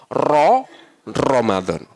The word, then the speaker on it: Ramadan: Yang a tidak ada ra kan ya. Adanya ro ya, Pak ya. Bacanya pasti rata-rata Ramadan. Ramadan. Ramadan padahal Ro Ramadan.